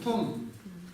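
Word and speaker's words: མཐོང: Том.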